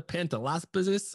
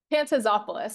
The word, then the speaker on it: Pantazopoulos: Mr Gabriel Flores today I'm here with pantalis oh man I fumbled that last name Pantop hey please help me pronounce it again pantazopoulos it was good pantazopoulos oh so close folks